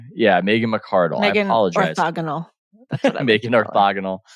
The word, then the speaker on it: McArdle: at the upside of down that that Megan mccurdle uh calls it is that how you pronounce her name yeah Megan McArdle I apologize I'm making orthogonal Megan liminal um